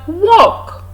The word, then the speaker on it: walk: have graph graph not kind of we have walk walk walk the double look what we have